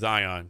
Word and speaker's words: Zhang: Our guest today is Zhang.